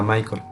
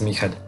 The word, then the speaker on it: Michael: narrador Mel ende y se pronuncia Mel porque es un escritor justamente de origen alemán no inglés que de repente he escuchado que pronuncian su nombre como si fuera Michael y no es Michel es una novela bastante